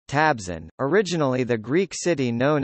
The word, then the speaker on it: Trabzon: Trabzon, Turkish pronunciation, Tabzon, originally the Greek city known as Trapezu in